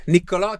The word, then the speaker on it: Niccolò: Niccolò Canepa. Is it Canepa or Canepa? Is Niccolò, first of all. Here we go. Can you say that? Canepa. Canepa. Niccolò Canepa. Niccolò Canepa.